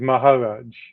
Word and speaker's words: Maharaj: It's M-A-H-A, so it's Maharaj. Okay, Maharaj, right?